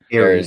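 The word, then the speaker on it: Ares: Is it Eris? Is that how you say it? Aries, yeah.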